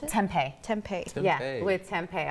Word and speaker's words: tempeh: How do you pronounce it? Tempeh.